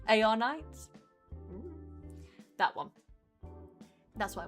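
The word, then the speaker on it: Arknights: Is the K silent? Is it arc knights or ar knights? A knights.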